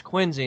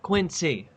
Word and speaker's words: Quincy: it's not q i ns e y it's quiny not Quincy you guys pronounce every single City in your entire State